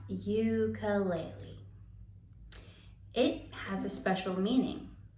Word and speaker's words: ukulele: And how do they pronounce it in their native Hawaiian language? I think ukulele. Ukulele. Yeah, ukulele. But in English, we have made it common to pronounce ukulele.